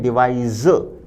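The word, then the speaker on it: devise: जबकि option C का उच्चारण है डिवाइस। ज की ध्वनि आएगी।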